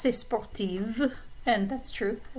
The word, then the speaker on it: sportive: form sportive so notice the difference in the pronunciation of the consonants and those words spartif is like f sportive v sound okay so i could say sportive and that's true i like to run gemko